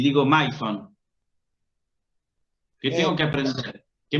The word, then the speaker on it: maison: de francés y digo maison. ¿Qué tengo que aprender? ¿Qué me dice el francés indirectamente a través de esa palabra? Que la unión de la letra A más I se pronuncia E, por ejemplo.